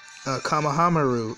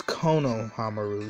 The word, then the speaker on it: Konohamaru: Kamahamaru, awesome. If I say his name right. It's Konohamaru.